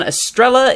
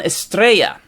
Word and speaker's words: Estrella: my newer signings incorrectly it is not Ivan Estrella it is Ivan estrea esta thank you Jorge for